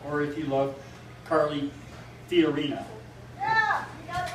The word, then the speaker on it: Fiorina: love Ben Carson or if you love Carly Fiorina.